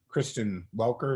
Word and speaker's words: Kristen Welker: Well, first I want to give my kudos to Kristen Welker. Is that how you pronounce her name?